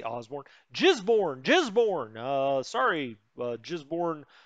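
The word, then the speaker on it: Gisborne: papa khari why papakari obviously that's how the locals say it uh in osborne we actually have two motorized units well i guess it's flat down here did i say osborne jizborn jizborn uh sorry uh jizborn uh born people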